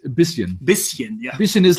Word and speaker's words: bisschen: Can you pronounce bisschen? I can't figure it out. It's bisschen.